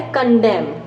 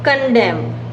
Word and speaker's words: condemn: कंडेम। ठीक है, पहला शब्द क्या है? कंडेम। इसकी स्पेलिंग CONDEMN, कंडेम।